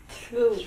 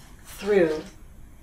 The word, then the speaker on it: threw: Through. With that TH. Through. Always difficult. Do the TH. And now the R.